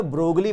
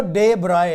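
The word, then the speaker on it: de Broglie: वो, उसका नाम था, हम इंडियन लोग उसको बोलते ब्रोगली, वैसे वो ब्रोगली नहीं है, वो डे ब्राय है, डे ब्राय। ये स्पेलिंग ब्रोगली बट डे ब्राय।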